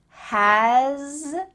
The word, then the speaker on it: has: That has a lot, has a lot, has, here we have a Z sound, has a lot.